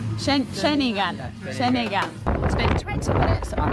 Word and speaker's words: Ceningan: Ceningan. Ceningan.